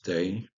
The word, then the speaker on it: dag: C'est pour ça aussi que, par exemple, dans le danois moderne, le mot dag, jour, se prononce day, bizarrement en anglais aussi, par exemple.